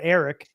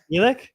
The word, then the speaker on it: Elic: this whole time because my eyes read Eric, but it's Elic.